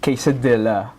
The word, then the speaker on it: quesadilla: for me it naturally it naturally rhymes with Manila where I came from so D Manila d